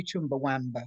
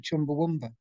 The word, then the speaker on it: Chumbawamba: um first question actually do people ever say chumbawamba as opposed to chumbawumba i was i was going to jump in